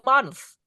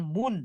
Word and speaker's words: month: And then about the month. Bacanya bukan bukan moon. Moon itu adalah bulan di langit. Kalau bulan Januari Februari itu bacanya month. Iya. It's not the moon.